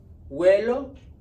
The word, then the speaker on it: huelo: What is that silent letter? It's a consonant. An H, right? So it's going to be vuelo, I smell. And that can be like, I smell, or, huelo mal.